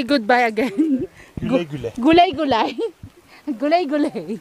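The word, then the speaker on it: Güle güle: Gulay gulay. Gulay gulay. It's the U with the dots. Ah, with the U sound.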